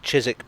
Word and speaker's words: Chiswick: that applies to both chiswick park and warwick avenue a silent w before the ick i don't think there's